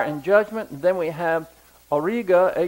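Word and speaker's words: Auriga: river of fire and judgment then we have Orga a u r i g a which is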